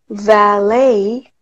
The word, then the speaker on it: valet: 이거는 lot로 발음하셔야 돼요. 플럼으로. Ballot. 마지막 거는 앞에 v가 다른데요. 그래서 처음 것처럼 해볼게요. Valet.